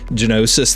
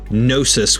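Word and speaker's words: Gnosis: voices voice actors whatever she called him nosis with the silent G so I'm curious as to what it is I kind of like the sound of genosis better but is what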